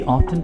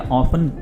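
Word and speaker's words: often: Basically ऑफ्टन का मतलब या ऑफन, ये दोनों तरह से प्रोनाउंस किया जाता है।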